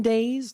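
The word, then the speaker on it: Daze: We also did discuss a little bit here too on the Abbey Farms pumpkin days. That's d a ze. So it does rhyme with maze.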